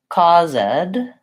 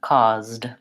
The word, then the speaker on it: caused: I just say moved I don't want to say cause ed no vowel sound there caused and learned yeah that's